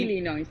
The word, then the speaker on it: Illinois: Bueno, ¿cómo se pronuncia entonces? Sí, ¿la ciudad dónde estás? Illinois. Es Illinois.